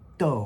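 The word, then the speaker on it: 鬥: In traditional, it looks very much like mun, but this is fourth tone do, which means to quarrel or fight.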